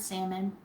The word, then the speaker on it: salmon: It does have an L, but I've always only ever heard salmon.